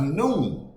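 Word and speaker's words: nun: You see, but when you talking about the alphabet, the Jewish alphabet, it's talking about when the sun is pronounced noon. It's pronounced noon.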